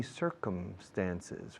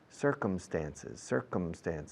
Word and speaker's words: circumstances: So he met my mother in funny circumstances. Fijaos cómo pronuncio circunstancias. Sí, señor. Yes, sir. Come como come, venir. Circumstances. Cerrando la boca con la M, por favor.